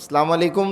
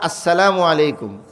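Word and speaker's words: السلام عليكم: সালামু আলাইকুম না আসসালামু আলাইকুম। হযরত মাওলানা আবরারুল হক সাহেব রহমাতুল্লাহ আলাই বলতেন হামজার উচ্চারণটা পরিষ্কার হইতে হবে।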